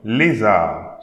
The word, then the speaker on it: lézard: Okay, so this animal is called un lézard. So don't pronounce the D.